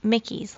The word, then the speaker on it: Michie's: And although it's spelled Michie's, M-I-C-H-I-E Tavern, it's actually pronounced Mickey's, like Mickey Mouse.